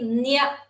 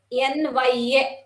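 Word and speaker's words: ञ: It is pronounced as NGA in English. Nga. For Chavarga, it will be Nya. NYA.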